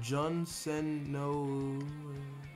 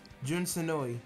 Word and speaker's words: Jun Senoue: Didn't you hear that Jun Senoue? The person that worked on Sonic 3 is going to be on the team. Yeah, Jun Senoue. Yeah, Jun Senoue. Jun Senoue.